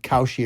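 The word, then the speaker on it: Kalshi: tell you guys that we've partnered up with Koshi, a real money prediction market legal in all 50 states. You can check out Koshi right now.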